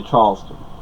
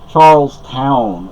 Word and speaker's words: Charlestown: in Charleston New Hampshire I say Charleston Charlestown is how they say it up here Charlestown knocked Alston